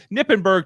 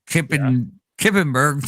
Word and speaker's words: Knippenberg: It just has a K in front of his name. So Kippenberg to me or something. well the word knife also has a K in front of it, Mott.